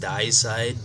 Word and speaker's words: Deicide: Benighted subsequently toured throughout Europe with Morbid Angel, I think the second one's pronounced Deicide, D-E-I-C-I-D-E, and Fear Factory, among many others.